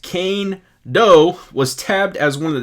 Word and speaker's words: Kaindoh: player bio right now so kando pronounced kane doe was tabbed as one